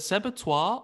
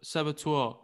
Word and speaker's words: saboteur: uh the sabbatoire is it how do i pronounce it is it separtois or saba saboteur it's saboteur but i do like your pronunciation